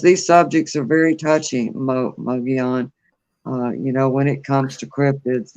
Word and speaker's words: Mogollon: But thank you so much, Mogion Monster. Hey, I finally pronounced that right.